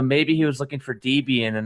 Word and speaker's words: Debian: choose the D-Bane? Yeah. The good news, Thomas, is you no longer have the worst pronunciation for Debian.